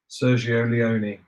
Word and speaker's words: Sergio Leone: Sergio Leone is the way that is pronounced, Alps, just for your Sergio Leone.